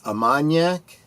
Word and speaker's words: Armagnac: And Big Al, behind the scenes, was helping me out with my French pronunciation. It's Armagnac, so thank you very much, Big Al.